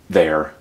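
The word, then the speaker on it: their: All of these are pronounced the same way. There, there, there.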